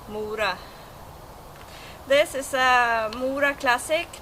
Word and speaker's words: Mora: as uh mura uh but in normal Swedish I guess it's a shorter o Maura this is a Maura